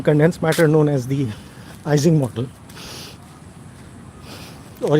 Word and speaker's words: Ising: matter known as the Ising model. Or if you want to be completely correct about the pronunciation, the easing model. But I'll go with Ising cuz nobody will understand what I'm saying if I say easing.